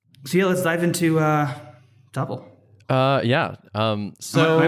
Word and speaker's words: Tuple: It's actually Tuple. Tuple. My bad. And everyone was listening. That's not fair. We pronounce it Tuple. Tuple is a totally legitimate pronunciation of that word as well. So, all right, we'll go with Tuple. You're clear in either way.